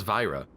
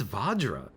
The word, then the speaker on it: vajra: pronunciation guide YouTube vadra I guess it's vajra really okay I guess I've been saying it wrong this entire time well this website isn't